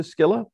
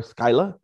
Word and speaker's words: Scylla: you pronounce it um according to old greek i think it would be more closer to skilla um or skyla according to modern english it's been rendered as cilla but we tell people however you pronounce it if you're paying the bills you can pronounce it however you like so